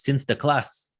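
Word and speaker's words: Sinterklaas: to celebrate the event the dutch pronunciation of saint nicholas is since the class when the dutch emigrated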